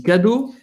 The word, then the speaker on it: cadeau: Avec ce petit cadeau. Presta atenção, a gente já falou da pronúncia do cadeau, tá? Ele falou cadeau. E, gente, o E-A-U em francês tem som de O.